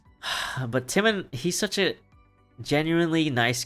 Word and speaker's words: Timon: We're going over Timon of Athens right now, which I know it's pronounced Timon of Athens, but I keep, I'm just used to calling it Timon.